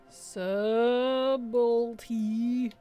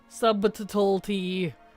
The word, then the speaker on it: subtlety: Subtlety. Subtlety is probably the weirdest spelled word, I swear. We do not say it like how it's spelled. Subtlety.